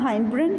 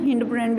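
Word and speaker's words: hindbrain: ठीक है, उसके बाद नेक्स्ट देखिएगा, नेक्स्ट है हमारे पास हाइंड ब्रेन, हिंड ब्रेन भी बोलते हैं इसे प्रोनाउंसिएशन में।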